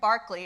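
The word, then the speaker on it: Berkeley: the European Death Cab Reverend Barclay is actually how you say his name published a book called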